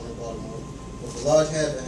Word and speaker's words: Baltimore: Now, a person from Baltimore will spell it correctly 99% of the time, but pronounce it with a D sound instead of a T.